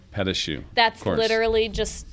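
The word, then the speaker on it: pâte à choux: and fillings and cake and how do you pronounce this one here? Petachoux. Petachoux.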